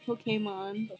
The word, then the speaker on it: Pokémon: That's how you pronounce it. It's Pokemon.